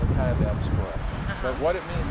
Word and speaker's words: Kaibab: It was the kebab trail. It's Kaibab. How does that pronounce it?